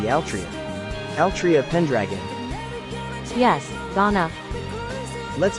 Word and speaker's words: Altria: will treasure this name for Japanese people it will be pronounced as artoria but for me it will always be Altria Altria Pendragon yes GH